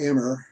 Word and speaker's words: emmer: this there is a grain called emmer i i just call emma i don't know why i do that's way way i first heard it pronounced oh that's helpful i